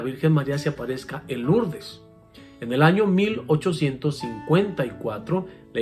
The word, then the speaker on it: Lourdes: persona me corrigió meo padre no se dice Lourdes se dice lo urdes se escribe lo urdes pero es una palabra francesa